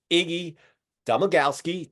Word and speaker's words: Iggy Domagalski: Canadian dialect going but uh his name is Iggy domagalski did I did I pronounce it right you nailed it David yeah